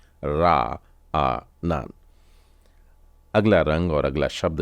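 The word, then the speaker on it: רענן: बार final नून है तो इसका उच्चारण हो जाएगा रा आ नान रा आ नान तो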